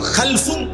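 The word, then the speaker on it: خلف: খালফুন আরেকটা হল খালাফুন একই শব্দ শুধু উচ্চারণের মধ্যে একটু ভিন্নতা মাঝখানে একটা লাম আছে এই লামটার মধ্যে যদি সাকিন হয় তাইলে হল খালফুন আর যদি লামের মধ্যে জবর হয় তাহলে হল খালাফুন আরবি শব্দ খালফুন লামের মধ্যে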